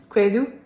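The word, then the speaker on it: kwadu: Don't bring your tongue forward. Backwards. Do. Aha. Do. Kwedu. Kwedu.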